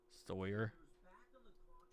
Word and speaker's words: Sawyer: Just rhyme it with lawyer. Sawyer.